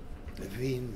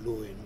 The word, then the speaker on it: Lewin: Levine, Lewin, whatever your favorite pronunciation is.